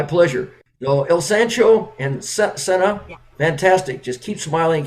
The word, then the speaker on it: Cynna: Oh, I thought it was Like pronounced with a cinnamon, C, Cynna. like cinnamon. Oh, So it's Senna, cinnamon.